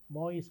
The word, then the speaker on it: Moïse: Lo que le pasó al presidente Jovenel Moïse, que le dije, nosotros le decimos Moisés, pero ellos pronuncian Moïse, Jovenel Moïse.